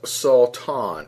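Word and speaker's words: שָׂטָן: and the Hebrew and it's believed to be pronounced as salt on sa WTA WN with the definition or the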